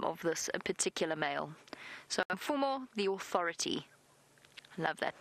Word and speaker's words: Mfumo: But the male's name, M-F-U-M-O, for our new viewers, M-F-U-M-O, Mfumo. Mfumo is the name of this particular male. So Mfumo, the authority.